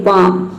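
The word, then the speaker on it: balm: हो गया काम, इसमें एल जो है वह साइलेंट है। उसी तरह से यहाँ पे है देखिए बाम, इसमें भी देखिए एल के बाद क्या आया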